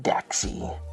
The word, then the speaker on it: Dacxi: Hopping on right, yes, Dacxi Coin, spelled like Dacxi, pronounced, I believe, Daxy. And let's roll with it.